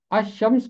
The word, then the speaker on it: الشمس: دو الفاظ ہیں، ایک لفظ ہے الشمس اور دوسرا ہے القمر۔ الشمس کو الشمس پڑھتے ہیں اور القمر کو القمر پڑھتے ہیں۔ چونکہ الشمس میں لام خاموش ہے اس لیے یہ الشمس ہے، اور وہ تمام الفاظ